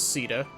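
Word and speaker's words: Caeda: powerlessness allies like princess Sita and the mercenary augma helped me retake my homeland thank you for pronouncing it as Ceta my people call me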